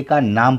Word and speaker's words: cane: तो केन, केन, कैन, केन, बिना ई के कैन, ई के साथ केन, लेकिन ई साइलेंस होगा। उच्चारण में, बोलने में हम इसको एन पे ख़त्म कर देंगे, केन।